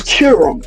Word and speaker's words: Qerim: Well, first of all it started when he started when she checked him on the pronunciation of her last name. Then after that she was like it's Kirum.